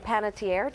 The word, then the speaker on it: Panettiere: mentioned you've gotten a celebrity endorsement from Hayden pantier did I say her name right there you